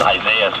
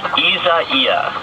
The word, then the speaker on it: Isaias: Yeah, I made it just Isaias, but it really isn't. It's Isaias.